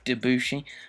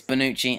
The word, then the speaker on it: Bonucci: found leonardo da bonucci i was going to say dabushi but it's bonucci and we asked her